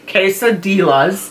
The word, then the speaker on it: quesadillas: But I know you like your hamburgers and quesadillas. Did I say it right this time? Quesadillas. The L's are silent.